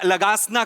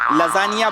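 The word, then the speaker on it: lasagna: दिवशी आपण हा खाऊया लगासना खाऊया लगासना तुमच्या बापाने केला होता लगासना लजानिया बोलता येत नाही स्पेलिंग वाचून लगासना बोलता तुम्ही तुमच्या बापाने केला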